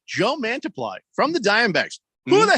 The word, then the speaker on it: Mantiply: Yeah, he's a pitcher, Mantiply.